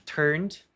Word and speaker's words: turned: Mas se subentende um have turned, mas aqui nós não temos. Simplesmente turned, apenas o particípio passado, o verbo principal. To yellow autumn turned. Um Dzinho quase mudo. Turned.